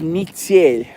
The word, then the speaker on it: метель: So in Russian, snowstorm is actually pronounced as mitsel.